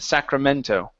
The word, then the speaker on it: Sacramento: Deb's letter reached the Sacramento office right on time. Okay, very good. All right, let's go to here. Sacramento. Sacramento. So instead of Sacramento, put the stress at the end. Sacramento.